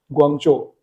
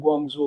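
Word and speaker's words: 广州: For example China की एक मशहूर सिटी है ग्वांगचो, लेकिन लोग उसको क्या प्रोनाउंस करते हैं, ग्वांगजो ग्वांगजो ग्वांगजो, क्योंकि उनको पता नहीं है जो चाइनीज फिनीन है उसको प्रॉपरली कैसे प्रोनाउंस करना है।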